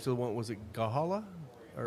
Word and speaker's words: Gahanna: Was it Gahala? Or how do you pronounce Gahanna. it? Gahanna.